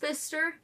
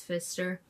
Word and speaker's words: Pfister: weird Wisconsin and I am focusing on the Fister hotel now it is spelled p f i s t r but it is pronounced Fister I you know did Google it to see